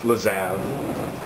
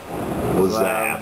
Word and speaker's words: Lazav: Larzov. How do you say his name? Larzov? Larziv? Lazav. Lazav.